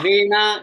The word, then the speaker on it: Vena: Yeah, Vena, Vena. वैसे वेण कहते हैं, in Sanskrit pronunciation Vena. English में इसको Vena you may call, but it's Vena, Raja Vena.